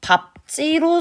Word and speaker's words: 밟지: 그래서 우리가이 밥다 같은 경우에는 요렇게 소리가 나야 되고 이것도 밥지로 소리가 나야 돼요. 나뭇잎 밟지 마라. 이렇게 소리가 나야 되지 밟지 마라. 안 됩니다.